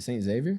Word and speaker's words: St. Xavier: Is it St. Xavier?